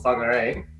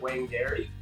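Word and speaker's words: Whangārei: in this video where I live now called fog array most Canadians can't pronounce right medically as a Canadian you with you at Wayne dairy but in the proper moldy pronounciation and fungi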